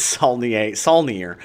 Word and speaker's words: Saulnier: It's Saulnier.